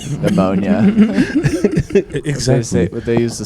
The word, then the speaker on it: pneumonia: Or like pneumonia. Exactly. Would they use the silent letters?